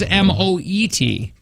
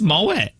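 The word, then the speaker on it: Moët: Oh, this is Moet. Yeah, the T is silent, there. like buffet.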